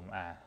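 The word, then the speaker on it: 일: ๆ ต่อ เนื่อง กัน ไป นะ ครับ ผม อ่า ตัว เลข 0 นะ ครับ ผม ตัว เลข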